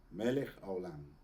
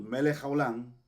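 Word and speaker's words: מלך העולם: melec a olan Okay no se dice haolan sino se dice melec olann melej a olá muy suave esa pronunciación Porque si nosotros pegamos eh melej con olam y decimos melej olam estamos diciendo otra cosa de hecho estamos diciendo una maldición entonces hay que tener cuidado con eso porque cuando conectamos esas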